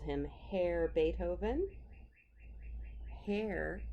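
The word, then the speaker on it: Herr: submarine and you heard that she called him hair Beethoven hair H grr and German means mister and it's pronounced hair even though it looks like it spelled her with an extra are terrible weather this morning mr.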